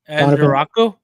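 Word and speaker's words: Ezeiruaku: Donovan Ezaraku.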